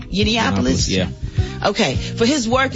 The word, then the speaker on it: Yiannopoulos: Yiannopoulos?